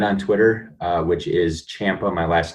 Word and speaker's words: Ciampa: LinkedIn so it's h Champa and the last name is spelled c i a m p a uh and then I'm also a little bit on Twitter uh which is Champa my last name all